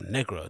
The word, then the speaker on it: Negro: radios and you released the dj announced it as negra the spanish pronunciation that's how i heard